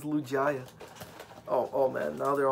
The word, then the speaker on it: Lugia: yeah yeah i'm sorry lugia you said it wrong it's lugia oh oh man now